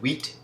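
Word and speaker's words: huit: uh yeah all right CE is the pronunciation of six in French set is the pronunciation of seven sank is five and wheat is eight so you know 5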